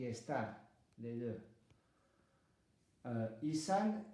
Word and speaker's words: est: Il est. Le S et le T ne se prononcent pas.